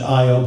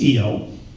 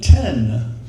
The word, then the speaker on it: Io: Some people want to pronounce that Io, but I know it's Io.